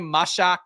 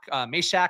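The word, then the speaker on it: Mashack: Uh Jamaim Mashak Mishak I think is how you're supposed to pronounce that.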